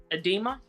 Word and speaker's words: edema: um I forgot the what is it called edema that's how you say it yeah with the